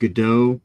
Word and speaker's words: Godot: of hand so what what tell me what Goda is and what's going on with this all right uh well it's technically it's pronounced gdau like waiting for G but uh what had